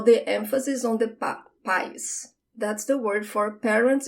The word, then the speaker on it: pais: The word for parents is pais, pais. The emphasis is on the pa, pa. Because if you say país with the emphasis at the end, you're saying country.